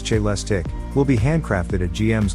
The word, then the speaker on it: Celestiq: pack powering a two motor AWD system.the Celeste pronounce j less tick will be handcrafted at GM's Global Technical Center